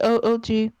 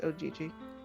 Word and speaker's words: OGG: playing audio ddl c o o g I said it wrong it's Ogg and that's the game